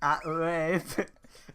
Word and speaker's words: Uayeb: Aueb. It's pronounced. Okay, it's spelled AH space UAYEB. Aueb. I'm not sure that every time it's said the person goes, Wabe.